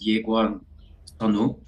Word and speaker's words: Yekwon Sunwoo: Actually, in Korean, it's pronounced as Yekwon Sunwoo. Okay. I lived in the U.S. for quite some years, and it's spelled with a K, so people call me Yekwon, but feel free to do Yekwon or Yekwon.